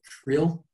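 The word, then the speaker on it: Creel: place or town called krill um it's kind of like sounds like the fish food it's actually spelt c-r-e-e-l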